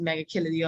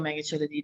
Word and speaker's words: Megachilidae: And then there's Megachilidae or Megachilidae, depending on how you like to pronounce the word.